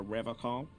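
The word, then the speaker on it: Revachol: to stay strong for rev call he pronounces revon with a hard K unlike other people no no I help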